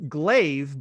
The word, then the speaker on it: Glawe: actually spell your name it's it's glaive but it's spelled g-l-a-w-e so it's a little tricky there um i've known jonathan